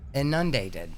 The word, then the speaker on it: inundated: Inundated. Inundated. Is that? I don't think that's the right word. No, she's putting the emphasis on the wrong syllable. The word is inundated.